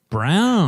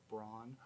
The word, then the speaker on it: Brown: Brown. That's how you pronounce it. Like the color, not like brawn.